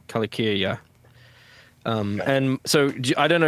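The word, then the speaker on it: Calacirya: I was pronouncing Kyria as Kalasyria or something like that. So is it always a hard C whenever it's a C like that? I think so. Kalakyria? So yeah, Kalakyria. Yeah, Kalakyria.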